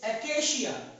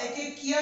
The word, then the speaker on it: acacia: Number 9 ACACIA एकेशिया। इसे आप एकेकिया नहीं पढ़ेंगे, एकेशिया पढ़ते हैं, CIA को शिया पढ़ते हैं, ठीक है, एकेकिया नहीं पढ़ेंगे, इसे ACACIA को पढ़ेंगे एकेशिया।